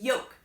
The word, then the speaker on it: yolk: the egg yolk and no you do not pronounce it yolk even though there's an l in it you say yolk like it's basically you're